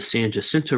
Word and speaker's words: San Jacinto: as you'll see um the san jacinto river is actually that's how we pronounce in texas um where more of